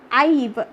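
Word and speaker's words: I've: I apostrophe VE means आईव, कैसा pronounce करेंगे बेटा, आईव, आईव का फुल फॉर्म होता है आई हैव, ये शॉर्ट फॉर्म में, शॉर्ट में लिखा हुआ है।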